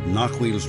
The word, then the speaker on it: Narhuil: I fear that Amarthiel has already discovered Narhuil's resting place, and with it, the doom of the North. Narhuil. Okay, so I've been saying it wrong. Narhuil. I will have to try to get better at that.